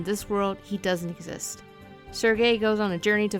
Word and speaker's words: Serge: you play as a protagonist sergey that's how you pronounce it right when i was a teen i always said surge but i think it might be surgery anyways sergey is enjoying